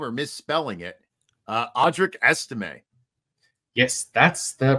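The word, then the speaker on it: Audric Estimé: misss saying his name or misspelling it uh audri ese yes that's the pronunciation as far as I know as well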